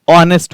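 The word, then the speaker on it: honest: ये यहां पर एच साइलेंट है। एच ओ एन ई एस टी ऑनेस्ट होता है। ऑनेस्ट नहीं।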